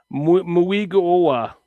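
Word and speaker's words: Mauigoa: Francis Muiga Muiga got to pronounce every vowel if I if I understand muigoa muiga.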